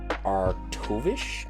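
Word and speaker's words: Arctovish: that's a reverse holo arctuvish that's how you pronounce it and then what's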